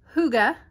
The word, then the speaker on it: hygge: the bottom label so gorgeous and this is pronounced hygge i'm finally learning it and this is the